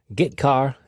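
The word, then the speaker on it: getchar: character io functions are get car and put car that's how I pronounce them get car fetches a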